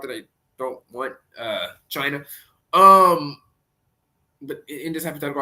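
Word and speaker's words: Chyna: The main character's name is China, spelled with a Y for some reason. ch Y N A which um led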